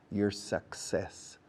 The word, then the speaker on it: success: people don't pronounce well word number one is Success your success suck suck says okay your success success